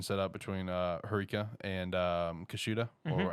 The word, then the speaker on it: Kushida: had this competition set up between Harika and Kushida, or how you pronounce her name. No, you said it. Kushida?